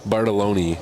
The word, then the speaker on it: Bartoloni: Bartoloni is the right pronunciation.